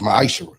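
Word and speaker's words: מעשר: You can find this in the book of numbers 18 21 in the book of Malachi 3 8-10 means 10th in Hebrew it's pronounced misher 10% of every penny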